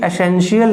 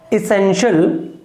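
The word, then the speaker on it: essential: अब देखिए एसेंशियल नहीं है, ये प्रोनाउंसिएशन इसका इसेंशियल वे, ई का साउंड आएगा, ए का नहीं आएगा। इसेंशियल, इसेंशियल वे।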